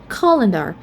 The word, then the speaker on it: calendar: For example, the first one, calendar. We have the schwa at the second syllable. That's why we stress on the first syllable.